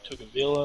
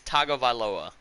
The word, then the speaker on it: Tagovailoa: Over on the yearly awards for the AFC, we have Tua Tugavila What? leading. Say that one more time. Tua Tugavila Nope. leading. Again. Bro, I ain't pronounced it. It's Tua Taga. T It's Tagovailoa.